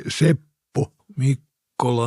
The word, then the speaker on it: Seppo Mikkola: In Finland, my name is pronounced simply Seppo Mikkola.